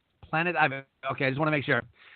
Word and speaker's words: Planet Ivy: I don't want to butcher the name. Planet Ivy. Planet Ivy.